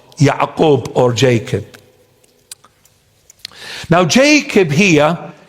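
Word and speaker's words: ܝܥܩܘܒ: In the original text, in the original language, or in Syriac Aramaic, it is pronounced Ya'qub. Ya'qub. An. Ya'qub.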